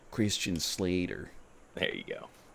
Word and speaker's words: Christian Slater: someone's gotta get to say his name right christian slater there you go it's okay i watched it